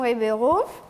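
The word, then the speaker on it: Ribeiro: battre sera-t-elle bien entourée bonjour je m'appelle ribbero ça s'écrit bah r i B e i r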